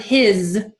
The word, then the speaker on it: his: an example would be the word his is spoken with a Z at the end even though it's spelled with an S is his kind of